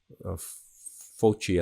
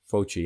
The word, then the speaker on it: Fauci: Some obscure person named Anthony Fauci, I think is how you pronounce it, Fauci, and I'm going to show his information in a second.